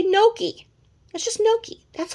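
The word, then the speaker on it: gnocchi: had no key okay i think it spelled like gnocci it's not it's not a big tongue twister it's no key okay well then the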